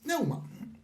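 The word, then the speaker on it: πνεῦμα: Uno es la palabra neuma, que se pronuncia también neuma, que significa aliento, aire y viento.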